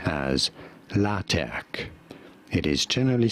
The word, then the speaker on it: LaTeX: about the software system this is said as la tech it is generally spelt with a capital t in the middle if